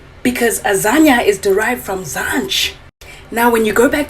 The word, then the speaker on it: Zanj: How do Boer people pronunciate the letter J? Y. Zanya.